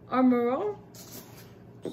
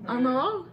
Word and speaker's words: Armor All: a acheté au Cannon Tire un kit de Armor All. Tu manques que ça se prononce? Armor All. Comment tu prononces ça? C'était correct au départ. Armor All?